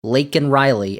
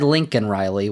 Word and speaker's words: Laken Riley: with the name of Laken Riley, and told her to say her name. And Joe Biden said Lincoln Riley, which is not technically correct, but I guess it's not as bad as flubbing Melania and Mercedes.